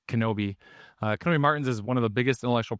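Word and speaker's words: Knobbe: Uh, it's spelled NA, but it's actually pronounced Kenobi.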